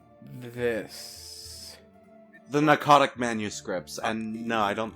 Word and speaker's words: Pnakotic: It's spelled Pnakotic, but given the PN, naming convention in English, I would chalk that up to it being pronounced narcotic, kind of like how Don said, or narcotic.